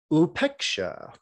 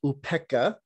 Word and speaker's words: Upekṣā: that we would talk about upeksha otherwise known as upeka if you're used to the pali pronunciation of the word the